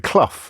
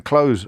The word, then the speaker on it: Clough: But the producer has never heard of him, or indeed of Brian Clough. In fact, I just had to teach her how to pronounce the word Clough, Clough.